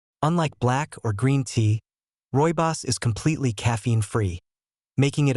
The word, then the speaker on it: Rooibos: Pronounced Royos, this vibrant red tea comes from a plant